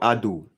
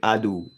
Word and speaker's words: ADO: Go for ADO. I said ADO. Ado. Ado. Don't Don't forget the name of the battery. It's spelled A D O.